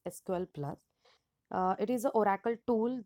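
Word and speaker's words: SQL*Plus: is SQL plus so it is written as SQL Star Plus and pronounced as SQL plus it is an Oracle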